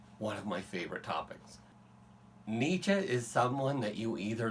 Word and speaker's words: Nietzsche: right so first start notice how I pronounce his name I do not pronounce German well I've never studied much of it except the grammar but right let's just say it this way we will say it as Nietzsche that's pretty close to what I hear German